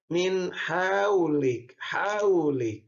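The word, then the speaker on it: مِنْ حَوْلِكَ: Kenapa haraf lin? Karena waw mati di bawah sama fathah. Haraf lin ini ada 2 hurufnya, ada waw, ada ya. Haraf artinya haraf, lin itu adalah lelei ya. Jadi bacanya min haulik ya.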